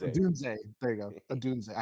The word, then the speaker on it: Odunze: Odunze. Odunze.